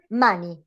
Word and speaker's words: money: For example, money. Money, you have a neutral E. This is weak, this is strong.